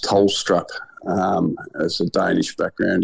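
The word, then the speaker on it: Tholstrup: selections of Caleb and and Colton which is pronounced tolstrup um as a Danish background yet good to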